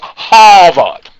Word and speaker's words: Harvard: money for that degree if you went to Harvard hot it's pronounced by the way it's pronounced hot anyway Gomer sir Supply